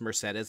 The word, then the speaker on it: Mercedes: Mercedes which I can't it's pronounced Mercedes and I cannot believe